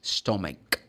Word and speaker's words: stomach: No, stomach. The CH in this case has the sound K.